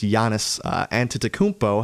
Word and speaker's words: Giannis Antetokounmpo: And what does Giannis Antetokounmpo have to do? I'm glad I got that pronunciation right.